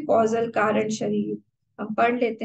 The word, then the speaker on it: causal: ये कैजुअल नहीं है, ये कॉजल है। कई लोग इसको प्रोनाउंस करने में गलती कर देते हैं। This is कॉजल body, CAUSAL।